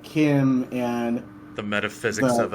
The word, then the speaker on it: CHIM: Or is it Chim? I don't forget how it's pronounced. It's Kim. I've always heard it Kim. I've never heard anybody pronounce it Chim.